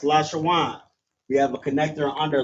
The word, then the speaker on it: Lashawan: These connectors assist uh in the pronunciation of the Hebrew word. For example, there's we have lash shawan right here. So we have la wa I'm sorry la sha w and n. That's lash shawan.